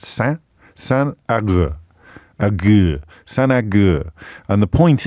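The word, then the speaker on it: Saint Agur: Not, as I started off saying, Saint Augustino. So we've gone from Saint Augustino or something, Auguran or something, to it's San. It's spelt Saint, but pronounced San Agur.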